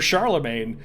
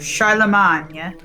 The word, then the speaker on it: Charlemagne: in the visiting chamber see we haven't been saying it right so well i mean it's the anglicized way of saying it muffled voices emanate from